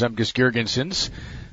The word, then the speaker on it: Zemgus Girgensons: He is number 28 for the Buffalo Sabres, Zemgus Girgensons. Did I pronounce it right?